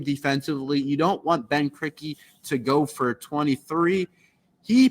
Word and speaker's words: Krikke: But Ben Krikke, that is how you pronounce it.